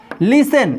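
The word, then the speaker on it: listen: Concept 2, S plus T हो तो वहां पर टी साइलेंट होता है। जैसे लिसन, लिसन मिस होता है सुनना, हैसन, हैसन मिस होता है जल्दी करना।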